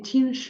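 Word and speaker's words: Qin: comenzó con reinados de chinu Juan nacido en hantan bien Dinastía chin la dinastía chin gobernó china entre 221 206 el nombre chin que tiene una pronunciación similar en la española chin es uno de los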